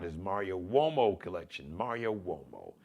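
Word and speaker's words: Umo: Mario Womo. M A R I O U M O. That's u M O WO. It's an Italian surname, but it's pronounced like with a like a W, like a W, like a WO sound.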